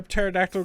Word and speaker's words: pterodactyl: ] this joke up why can't you hear pterodactyl go to the bathroom why because the P is silent and I'm gonna guess